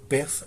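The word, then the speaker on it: פסח: Alguns pronunciam Pessah, embora quando se a portuguesa se escreve como Pesach, o CH no final. Só que esse CH ele corresponde a uma letra hebraica que tem um som aspirado, como o nosso R final.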